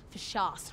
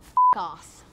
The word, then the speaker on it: F.U.C.A.S.S: It's pronounced for shas, not f**k-ass.